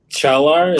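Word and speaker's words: Çağlar: We still got to work on your pronunciation of everything. How do you say it, too? Go on. Chalar is his first name.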